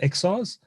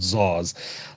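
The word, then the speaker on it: XaaS: XRs? X as a service, everything as a service. Everything as a service, XRs, not ZARs.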